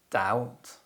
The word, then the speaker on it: doubt: as det and lamb the letter b is often silent when it appears before the letter t and after the letter m usually at the end of words other common examples include